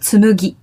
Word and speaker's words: tsumugi: Number 4 is, I think it's a bit hard for English-speaking people to pronounce, but tsumugi. Oh, yeah. Tsumugi with a mu.